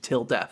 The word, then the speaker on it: tilde: known as a th no that's good to pronounce til death it's a tilt a th till death oh okay the programming that Sollux used was known as tilde that functioned entirely on self term paradoxes the